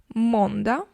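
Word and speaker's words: måndag: веккур починаємо З понеділка монда монда можемо ігнорувати останню літеру у кожному слові тут просто Давайте так не забуваємо її написати але можемо забути Трошки її вимовити Так ми будемо звучати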